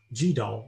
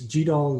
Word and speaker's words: GDAL: is something that is called gdal or goodall depending on where you live how to pronunciate it and it stands for